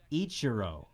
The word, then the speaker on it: Ichiro: on me for pronouncing it how do you pronounce it your own HRO Ichiro it's ro yeah but you might be wrong